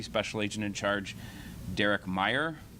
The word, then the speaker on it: Meyer: first from Deputy special agent in charge Derek Meyer it's uh pronounced Meyer it's spelled m ye R Derek is d